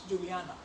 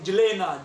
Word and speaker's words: Juliana: And over the years, it got corrupted because the locals did not know how to talk about Juliana, how to pronounce Juliana. So they started saying Julena, Julena, Julena.